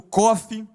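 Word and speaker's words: ק: Q no nosso alfabeto, que se pronuncia como Kof.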